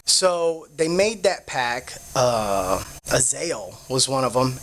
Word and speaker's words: Azazel: Azael was one of them. Azael, right? Azazel. It just Azazel. depends on what language you speak. Yeah, how you pronounce it.